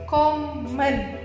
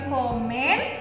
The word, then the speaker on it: kommen: Dibacanya bukan n tapi an. Kommen, wohnen, heißen gitu ya. Jadi bukan komen, wohnen, bukan, tapi kommen, wohnen, heißen gitu.